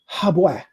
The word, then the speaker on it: Habu: And this ibis bird was called Habu, a Habui, which within the Metru Neter, Habu is pronounced Habwa, Habwa, Habwa. That's how it's pronounced.